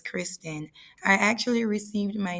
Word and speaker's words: Kristann: have three nephews um my name is actually pronounced as Christian in the Jamaican accent but in American accent it is pronounced as Kristen I actually received my